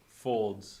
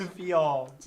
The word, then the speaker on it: Fields: Oh, you pronounced it like he typed it. Folds. Who's getting Folds? Fields.